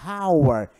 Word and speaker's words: hour: vogal our não é our é our então quando eu digo our Então nesse caso é em an hour e não há our Ok cuidado uma diferença